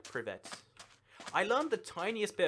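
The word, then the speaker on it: привет: Toycat, you can pronounce hello in Russian like privet.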